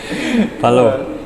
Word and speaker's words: plov: Palo. Palo. Ya, palo. Apa itu? Plov Ya, atau plov. palo? Plov itu Bacanya gimana? aksennya kayak Rusia. Palo itu yang benar.